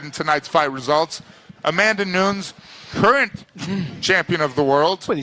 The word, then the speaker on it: Nunes: Amanda Nunes, current champion of the world.